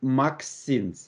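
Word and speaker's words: MXene: not that are called maxines we pronounce this word maxine where m stands for transition metal x for carbon nitrogen so those are two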